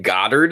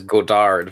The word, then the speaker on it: Godard: a zoo Goddard one you pronounce his name Goddard I've always heard it as Godard but I don't know